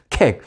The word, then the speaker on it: Keck: 캑. 우리 한국식 발음으로 하니까 저도 뭐 좀 늘 불편합니다.